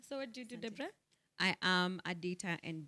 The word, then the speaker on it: Debra: No, it's not Deborah. Okay. Debra. Spelling haina O. Haina O. Sika ile ya Bible. Pronunciation is different. Sika ile ya Bible. Ile ya Deborah. Is it Debra with a H? Debra? No. It's just Debra.